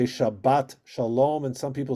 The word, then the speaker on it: Shabbat: yeah chabus and in in sparik it's always on the last syllable shabat okay all right that's